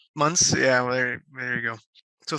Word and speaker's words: Munce: let's get started so adam and the pronunciation of your last name months yeah there you go so thanks for agreeing